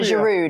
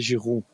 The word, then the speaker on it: Giroud: it I need education well in French is Olivier Kate Kate you say you